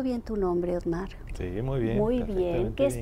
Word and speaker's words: Ottmar: julio ortega de la universidad de brown y ottmar ette pronunció bien tu nombre osmar muy muy bien que es profesor de la